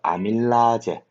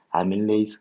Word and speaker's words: 아밀레이스: 그 옛날에는 일본식 발음을 따라가지고 아제라고 불러줬어. 아제 이렇게 뒤에 붙여줬거든. 그래서 아밀라제, 카탈라제 뭐 이런 식으로 이름을 붙여줬거든. 근데 요즘에는 영어식 발음으로 에이즈라고 이름을 붙여줘요. 아밀레이스, 카탈레이스, 말테이스, 수크레이스 이런 식으로 되겠어?